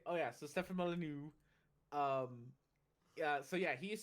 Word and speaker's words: Molyneux: He's Molyneux. You gotta say it in a French way.